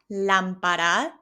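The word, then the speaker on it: lámpara: La lampara. It has the word lamp in it. And we also have that accent on the letter A. That's why my voice goes up in tone.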